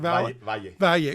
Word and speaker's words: Valle: I make sure I get the pronunciation. Valle. I should know that. I'm Hispanic. Valle, the double L on there.